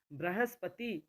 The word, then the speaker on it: बृहस्पति: जन्म सही होगा पुनर्जन्म बृहस्पति बृहस्पति ब में ऋ की मात्रा है ऋषि की मात्रा है मूर्धन्य मूर्धन्य ये